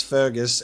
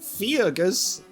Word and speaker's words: Fergus: somebody named F Fus I know that it's Fergus how it's said but it's just like Fus I don't believe it